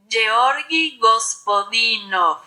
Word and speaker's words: Georgi Gospodinov: alguien tiene alguna duda de cómo se dice esto en búlgaro, lo he buscado, se dice así, atención. Georgi Gospodinov.